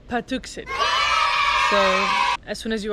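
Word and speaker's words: Patuxet: So we learned how to pronounce it. It's actually Patuxent.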